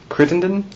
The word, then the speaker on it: Crittenden: the Orange County Sheriff's Office and with Crittendon yes did I pronounce that right right okay would you